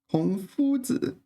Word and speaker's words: 孔夫子: How do you pronounce this one? 孔夫子.